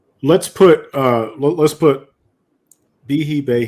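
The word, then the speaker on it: Behe: put uh let's put bihi Bay he always pronounced his name bihi yeah sorry baby yeah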